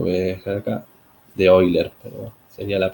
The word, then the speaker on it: Euler: Bien, si vamos al método de Euler, que lo voy a dejar acá, de Euler, perdón, sería la pronunciación adecuada, arrastro ese déficit de pronunciación.